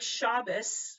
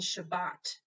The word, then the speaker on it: Shabbat: one hebrew consonant differently think shabbos which is ashkenazic and shabbat which is sephardic same thing different tradition however most ashkenazim have